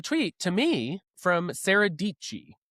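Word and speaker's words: Dietschy: And I see a tweet to me from Sarah Dichi. Um, rhymes with peachy.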